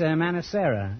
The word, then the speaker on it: Manicera: Manicera, is that... Yes. That's an odd name. Is that the correct pronunciation? Yes, it is.